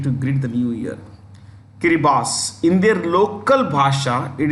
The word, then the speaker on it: Kiribati: Kiribati. In their local bhasha, it is pronounced Kiribati. हमको कहना है Kiribati.